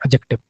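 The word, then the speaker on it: adjective: इसकी जो प्रोन्सिएशन होती है वो होती है एडजेक्टिव। डिसाइलेंट होता है इसमें एडजेक्टिव।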